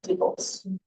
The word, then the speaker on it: DIBELS: So it's DIBELS, but it is pronounced tables, not dialogues, but tables.